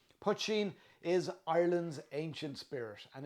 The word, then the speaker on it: poitín: But that's how I pronounce it, and it's way better to use my pronunciation than saying poutine or pochin or other various mispronunciations. Poitín is Ireland's ancient spirit and is considered the father of Irish whiskey.